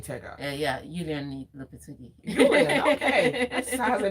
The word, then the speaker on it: Lopetegui: Please pronounce this name, Tega. Yeah, Julian Lopetegui.